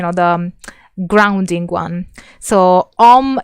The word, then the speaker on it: om: the grounding one so om is a combination of the sound ah oo m and i create um which is supposed to be you know um pronounced by using the diaphragm if you have studied